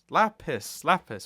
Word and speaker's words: Lapis: Lapis with a P, not an F.